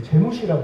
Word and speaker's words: GMC: 그 당시를 되돌아보면 이제 제일 많이 유명했던 트럭이 이제 제무시라고 부르는 트럭인데 네네. 이게 이제 GMC를 그 당시 분들 발음으로 한 겁니다.